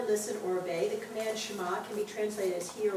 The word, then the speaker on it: Shema: So do you see how Shema should not be actually pronounced Shema or Shema? It's Shema. Which when we do with the kids, Shema, we do it right. It's just that when we see it spelled, sometimes it's spelled S-H-E, and so then we want to make a longer E.